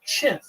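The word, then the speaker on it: Qin: historical identity a people called the chin uh which in in the pinion system is spelled q n uh the chin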